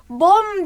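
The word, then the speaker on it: 봄: bom bom bom neydi bom B sesi o sesi ve M sesi ile yazılıyor bom diye okunuyor ve ne anlama geliyor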